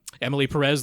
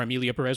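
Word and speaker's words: Emilia Pérez: in there to watch Emily Perez there last week. So or Amelia Perez, rather. Sorry, I got the name wrong.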